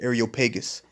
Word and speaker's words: Areopagus: I believe it's pronounced Areopagus, which Areo goes back to Aries.